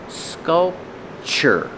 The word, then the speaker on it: sculpture: a beautiful sculpture pronunciation sculpture the TU is pronounced with the CH like chicken scope sure sculpture this